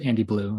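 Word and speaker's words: AndyBLiu: So Andy Blue is how I pronounce it.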